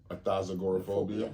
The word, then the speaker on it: athazagoraphobia: a athazagoraphobia aporophobia yeah you put another syllable athazagoraphobia yeah athazagoraphobia is the